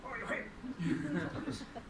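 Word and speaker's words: 法隆寺: Y dice, Horyuji.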